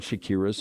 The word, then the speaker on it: Shakira: been actually used in Shakira's place. Fans claim You mispronounced it. Shakira, guys. Come on.